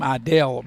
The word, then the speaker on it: Idell: And also number five, and you pronounce his name, Idel.